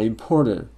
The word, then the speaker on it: importer: Не importer, а importer. D похоже, да? Important. Опять же, по той же причине. T между гласными. Importer. Попробуй. He's a boring pen importer. Is it T между гласными? Да, потому что R не звучит.